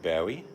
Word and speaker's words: Bowie: David Bowie. It's actually how he pronounced his name. But you go Bowie, I say like if you want to throw him a knife or something.